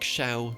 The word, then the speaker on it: Xiao: X in them, and they're pronounced with more of an SH sound like Xiao, Jianling, and Xingqiu.